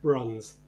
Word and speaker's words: Bruns: Bruns.